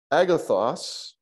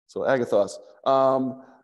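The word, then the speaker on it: ἀγαθός: Because the A, the syllable, the emphasis is on the front, the ag. It's on agathos. Yeah. Because it's what's on the front is the breathing mark, not the accent. Agathos. You see that? Yeah, I see it there. Agathos. Yeah. Yeah. So you're going to accent the os.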